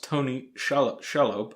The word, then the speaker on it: Tony Shalhoub: The episode guest stars Tony Shalhoub, I think that's how it's pronounced, as Dr.